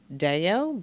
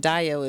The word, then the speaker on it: Dayo: I pronounce it Dayo, but Dayo is how you say it in Africa.